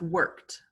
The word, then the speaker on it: worked: This word is pronounced worked. Worked. Good. And remember, usualmente la E no tiene sonido.